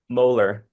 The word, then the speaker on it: Moeller: Chris no just what's your last name mhler m m o e yeah like the tooth like the tooth pronounced dress like the tooth okay you like